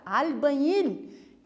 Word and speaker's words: albañil: Mi padre é albañil, olha a pronúncia, albañil.